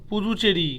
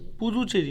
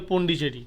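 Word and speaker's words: Puducherry: আই টিটি I Kavaratti আচ্ছা বল পুজুচেরি পুচেরি পুদুচেরি পুদুচেরি Pudhu P ইউ ডি ইউ আর পুদুচেরি পুদুচেরি capital হচ্ছে পুদুচেরি বাংলা বলে পন্ডিচেরি পন্ডিচেরি ধর ধর ধর ধর ন্যাশনাল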